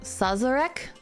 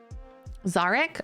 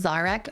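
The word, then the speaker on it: Szarekh: was offered, and despaired when, how do you pronounce that? Sazerac? The Silent King announced that it had been sealed. So Ozcan is really smart. He's a big brain. Zarek? Oh, it's just Zarek? Okay. Zarek.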